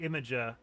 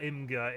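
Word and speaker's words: Imgur: to use the website imager IMG you are or imga if you prefer to pronounce it that way uh before I got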